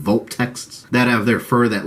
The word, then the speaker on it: Vulptex: There's these crystal foxes called Vulptext, by the way, I think is how you pronounce it, Vulptexts, that have their fur that looks like a crystal-like material.